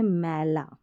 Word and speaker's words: मेला: में, और ये है मैला, मेला, ये मेला और ये मैला, फ़र्क आ गया दोनों में। ये मेला और ये मैला, उच्चारण देखिए, मेला, मैला, मैला।